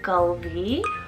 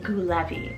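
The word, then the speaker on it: Gullevi: So it's pronounced as Gulvi, or I could also see it pronounced as like Gulevi, but Gulvi is the name.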